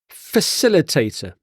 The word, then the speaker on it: facilitator: reason children do something facilitator facilitator so the C is pronounced like an s in this word facilitator a facilitator is a